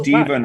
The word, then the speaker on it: Stephen: And Oh, Stephen wow. rhymes with 7, so.